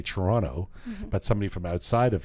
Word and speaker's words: Toronto: here because they say Toronto, but somebody from outside of here, Toronto, right? But that's the way I say it. I like to say Toronto. I'm from Toronto with the T, but yeah.